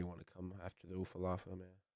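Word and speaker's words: Ula Fala: to come after the Ufalafa man. Say it right. Stop calling it the Ufalava.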